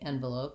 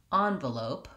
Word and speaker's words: envelope: Or the way I typically say envelope is by using the ah vowel on that first clear vowel. So I say envelope rather than envelope. So that just sounds like the ah, as in father, on, but the rest of the word stays the same, v-lope, long, short.